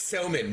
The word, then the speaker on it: Somin: I hope I uh pronounced your name correctly. It's Sman, but thank you.